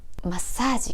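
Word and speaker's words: マッサージ: say this is massage comes from english massage pronouncing it like japanese is essential to sound natural massage massage is a particle meaning 2.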